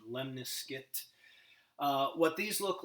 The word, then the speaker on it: lemniscate: this is called the Miss that looks like lemniscate but it's actually pronounced lemniscate it's guessing German just the pronunciation lemniscate what these look like basically you're gonna get